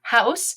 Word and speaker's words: house: hope you know them house has that oh you it has the owl sound just like the loud clown and the e is silent ate the e IgH